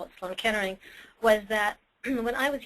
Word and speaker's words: Sloan Kettering: knew treated it and that was Sloan Kettering but because of my father's accent he pronounced it like Sloan caterings and so I had